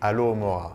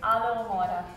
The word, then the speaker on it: Alohomora: So the second spell in French would be Alohomora. Alohomora. Because we don't say H in French.